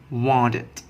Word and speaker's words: wanted: The third rule, ed occur after reading T and D, we will pronounce it id. For example, want, we will pronounce it wanted, wanted.